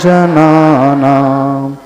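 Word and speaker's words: जनानाम्: वामनम भव जले पतता जना नाम अब जना नाम में म हलंत है तो म का पूरा उच्चारण नहीं आना चाहिए जना नाम म नहीं आना चाहिए जना नाम म हलंत एक चीज और है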